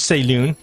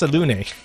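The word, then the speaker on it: Selûne: So I've always pronounced it as Saloon, and then now I found out it's pronounced Salune.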